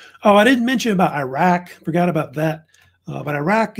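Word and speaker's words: Uruk: city that was called Iraq, which is pronounced the same way, but it's spelled differently, U-R-U-K.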